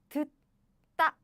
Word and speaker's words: 듣다: It becomes 듣다 when we pronounce it. 듣다 when we pronounce it. So this becomes this, double. This becomes double. I see. So do you get it? So when there are two same consonants bumped each other, the later one becomes double.